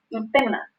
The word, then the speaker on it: hipema: La presencia de sangre en la cámara anterior se llama hipema o ifema. Se escribe con P o con F y con H. Nosotros usamos con mayor frecuencia la forma de decirlo con la letra P, ¿no?